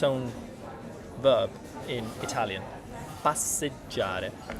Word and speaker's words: passeggiare: own verb in Italian, passeggiare, which isn't easy to pronounce because it's contains all of these double consonants, and J, right? GI, the what would you call it? Soft and hard? Yeah, soft sound, già. This is già.